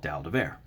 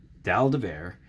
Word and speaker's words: dalle de verre: and this is called dal Devere dal des bear or dolled of air I think is the correct pronunciation for it is a French for slap of glass the dolls being these